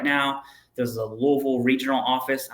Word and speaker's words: Louisville: right now there's a Louisville regional office I'm saying Louisville because that's how you say it that's where I'm from